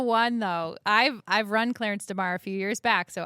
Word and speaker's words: Clarence DeMar: You kept calling him Delmare. So it's not that Delmare. I said it all wrong. So it's it's pronounce it correctly for me. Clarence Demar.